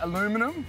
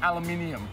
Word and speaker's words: aluminium: chassis we say chassis I say aluminum we say aluminium Wow yeah tomato tomato